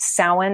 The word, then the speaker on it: Samhain: And when you hear me say Samhain, it's actually spelled Samhain. So a lot of people, like if you've ever seen the word Samhain, it's pronounced Samhain. It's a Gaelic word.